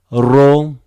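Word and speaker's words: Ρ: Ro is R, but in Greek, R is more like Spanish. R, a little bit similar to French R also. It's not like English, different pronunciation, okay?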